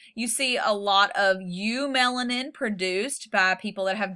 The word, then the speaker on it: eumelanin: There's eumelanin, that's spelled EU melanin, and there's faux melanin, PHEO melanin. Got to spell them crazy.